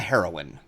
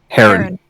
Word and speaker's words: Heron: It's going to sound like it will be pronounced as heroin and not heron.